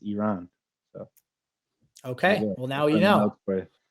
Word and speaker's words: Iran: Uh just circling back to the beginning of the episode, the correct pronunciation of uh Iran in English is Iran.